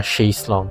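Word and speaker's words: chaise longue: C H E I S E or chase long chase chase more like it's it is more pronounced like s H right rather than ch yeah yeah sh long chase sh like Sh long. Sh long. Sh. Yeah, it's sh sound. She like she Okay, it's not a hot ch. It's a soft chase.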